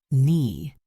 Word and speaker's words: knee: Knee. The K is silent.